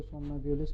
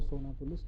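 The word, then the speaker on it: somnambulist: और सोमनाब्यूलिस्ट भी सोनाब्यूलिस्ट ही कहा जाता है इसको। कोई इसको सोमनाब्यूलिस्ट कहता है, कोई सोनाब्यूलिस्ट कहता है। Both are the same in pronunciation.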